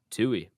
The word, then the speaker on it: Twohy: Is it Twohy? Toohey. Wow. Okay. That's okay. Toohey. I see it now. I don't want it to be Toohey. That doesn't feel like that should be how that's pronounced.